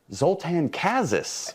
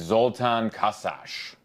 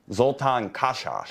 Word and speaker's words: Zoltan Kaszas: In Hungary, it's Zoltan Kaszas. Zoltan Kaszas.